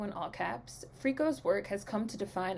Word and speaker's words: FRKO: and all that stuff uh born richard montgomery freako which is spelled f r k o in all caps frico's work has come to define atlanta's contemporary art